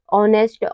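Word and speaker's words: honest: वो आ रहा है तो यहां पे एच साइलेंट है ऑनेस्ट ऑनेस्ट में भी एच के बाद ओ आ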